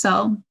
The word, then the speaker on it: SU11: on the unit's window su-11 in brackets pronounced soul verb one a refusal